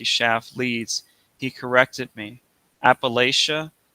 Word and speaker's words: Appalachia: Appalachia? No, it rhymes with come back at ya, the way that Yeats rhymes with hates, not heats. Appalachia, Appalachia doesn't rhyme with euthanasia any more than Eurydice rhymes with cowardice.